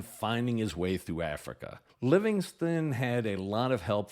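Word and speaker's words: Livingstone: name pronounced both living living ston and living Stone but I believe the correct pronunciation is Livingston even though the name ends with an E he was born on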